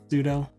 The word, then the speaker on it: sudo: super user do but I believe most people pronounce that as pseudo but yes I did see that I did